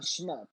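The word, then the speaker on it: Schmerp: his name again um he goes by the name of shmurp like it's uh spelled s-c-h-uh m-e-r-p right thank you no problem um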